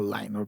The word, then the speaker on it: Lyn: ¿Sí es Lynn o Line? ¿Cómo se pronunciará? Lynn, ¿no? Lynn, ok.